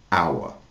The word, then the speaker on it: hour: Ho h encore le mot our qui s'écrit h o r. Par contre, on ne prononce pas la lettre H. Hour.